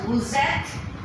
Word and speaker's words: vous êtes: it is pronounced as woozet, V, O, U as a woo, E, complex, T-E-S, woozet. Here again, because we don't pronounce a woo, ek, we pronounce a woozet.